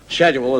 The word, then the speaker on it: schedule: these are the mean the word is not scheduled as scheduled SCH a skirt not sure and I said well no I don't think so i think it's schedule schedule that's the way the words plants he